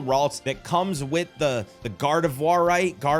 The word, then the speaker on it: Gardevoirite: I claim the currently available mystery gift for a female Ralts that comes with the Gardevoirite, it's Gardevoir with "ite" at the end, you know what I mean.